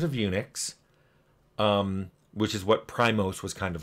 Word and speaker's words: PRIMOS: Looks like Primos, the band, or Primus, or whatever. But it's pronounced Primos.